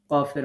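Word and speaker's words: ك: কাফ উচ্চারণ করার সময় আমরা ধাক্কা দিব না, স্বাভাবিকভাবে উচ্চারণ করব। বাংলাতে ক অক্ষর যেমন আমরা উচ্চারণ করি আক, ইক, উক, এরকম।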